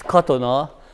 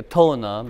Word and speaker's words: Katona: euro cotton ah yeah in Hungarian the accent is always on the first syllable so it's cotton ah but I introduce myself in America Katonah because they'll done they don't understand here this way I'm from Hungary